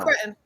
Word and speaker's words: cretin: is by the way, is it cretin or cretin? I don't know. Cretin. Cretin. Okay, I did pronounce that right. First of all, it's cretin.